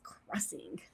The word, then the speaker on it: Xing: we have September 14th Squatch Xing pronounced as Crossing Squatch Crossing sorry I thought that was